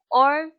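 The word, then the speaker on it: を: to watch to see or to look so tokidoki but sometimes i see movies and this is quo but written as woe but pronounced as o when war is used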